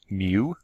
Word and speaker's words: mu: if you spell it out as mu lu pronounced mu like the sound of cat mix and it's